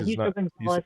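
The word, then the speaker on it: Justo González: Is it Justo Gonzalez? Is that how you say his name? Justo, is that my Spanish? Yeah, Justo Gonzalez.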